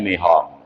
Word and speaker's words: Nippon: Kita kemudian di bawah kekuasaan Dai Nihong. Ya, tulisannya Dai Nippon. Membacanya Dai Nihong.